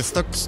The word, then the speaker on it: STAX: でございますこちら stax っていうエスタックスと書いてスタックスと読むらしいんですけどもこちら